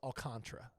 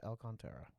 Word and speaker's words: Alcantara: guess Calvin Alcantara Kevin alcantra yeah bigger name bigger dude yeah hold on I did I misspell it well you didn't misspell it but it's pronounced alcantra it looks like Alcantara like Sandy Alcantara yes